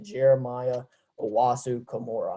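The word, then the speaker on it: Jeremiah Owusu-Koramoah: j okay um like who is j okay jeremiah owasu kimura i'm pretty sure is how you say his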